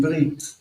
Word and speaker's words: brit: Bris is the Yiddish way of saying Brit.